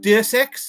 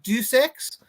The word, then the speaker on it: Deus Ex: half-life in there some i kind of pronounce it deus ex and do sex it had a bit